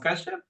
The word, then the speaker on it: Kashyap: Last name is pronounced Kashyap.